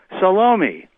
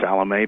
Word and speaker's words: Salome: And everybody answers, Salome, or Salome, pronounce it as you wish.